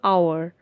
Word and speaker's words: hour: have used and before hour here the word hour has been started with silent h because the first syllable is not stressed next usage before abbreviations